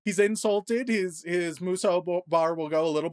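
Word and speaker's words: Musou: First, I don't think it's pronounced mushu, but that's how we pronounce it. I probably because the dragon from Mulan, honestly. That would be my guess. Let's see how it's actually pronounced.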